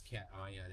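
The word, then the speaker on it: cation: Uh Justin Maxwell for five pounds says, "Cat I the T is from the prefix and the uh I is from the suffix."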